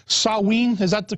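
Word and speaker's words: Samhain: now the real name i think was called saw ween is that the correct other correct pronunciation yeah in the celtic british isles yeah sewing it spelled samh a IM but we say it as sewing and yeah that's the that's the ancient ancestor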